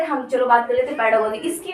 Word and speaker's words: pedagogy: होता है इसका मतलब इसको तुम कहीं कहीं इसका प्रोनाउंसिएशन पेडागोगी भी मिलेगा, लेकिन मैं बात करूँ उसका fresh pronunciation according to मी पेडागोजी होता है, ठीक है।